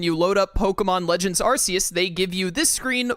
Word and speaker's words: Arceus: But Pokémon Legends Arceus, which I've learned is like Pokémon Legends Arceus. I always thought it was Pokémon Legends Arceus. I've been saying it wrong my entire life up until now.